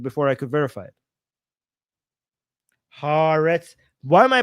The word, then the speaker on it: Haaretz: Haaretz. Why am I pronouncing this wrong? I've seen people call it Haaretz everywhere else. Like, why am I really pronouncing this wrong? Every time I say Haaretz, people in the chat are trying to can